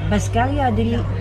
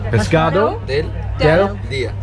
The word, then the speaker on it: pescado del día: Pescaria del día. Pescado. Pescado del día.